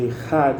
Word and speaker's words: Echad: Quando fala a palavra, o último versículo, né, Echad, composta de 3 letras hebraicas, que deve ser pronunciada com ênfase, Echad, em especial quando se